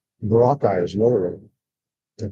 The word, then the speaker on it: Boracay: Boracay is another one. They call it Boracay. Boracay. It's not Boracay, it's Boracay. Second syllable accent.